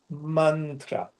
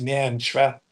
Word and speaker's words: mantra: Now in Sanskrit, we have a word called mantra. It's not pronounced mantra or even mantra.